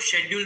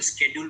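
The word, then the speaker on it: schedule: स्केड्यूल में या 4, कई लोग शेड्यूल बोलते हैं, कई लोग स्केड्यूल बोलते हैं, अच्छा प्रोनाउंसिएशन करने वाले स्केड्यूल ज्यादा बोलते हैं, है ना, और आप अनुसूची वर्ड भी कह सकते हो।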